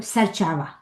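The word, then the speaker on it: ser çavan: Or serchava. Serchava. So we write N at the end, it's plural oblique, but we don't pronounce it.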